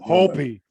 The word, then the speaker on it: Hopi: Hopi.